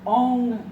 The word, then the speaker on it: Ong: All right, so the mantra is Om, O-N-G, if you pronounce it correctly. Om, your tongue comes up against the upper palate.